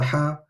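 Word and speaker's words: ح: So ha, we need to make sure that we're pronouncing this letter properly from the middle of our throat. We're pronouncing it with the full breath coming out and the air coming all the way from the throat out of the mouth.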